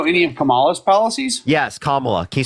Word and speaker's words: Kamala: tariffs you know any of kamala's policies yes Kamala can you say Kamala please or vice president